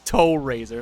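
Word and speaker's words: Tow RZR: it's a tow razor they spell it t-o-w-r-z-r but pronounced its toe razor i find that ridiculous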